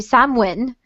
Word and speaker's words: Samhain: in Supernatural yeah yeah okay yes because uh Sam Hein or samine or some in the in Celtic organic it's supposed to be samwin that that it's pronounced like which I think is a very